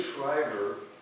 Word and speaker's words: Shriver: on Poverty Law U Sergeant Shriver is not spelled like the the sergeant it's just s a r g n t his name um was